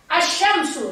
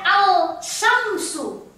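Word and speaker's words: الشمس: Asyamsu. Lihat. Asyamsu. Asyamsu. Tidak pernah orang baca al-syamsu. Tidak pernah. Alif lamnya dihilangkan. Langsung masuk ke huruf setelah alif lam.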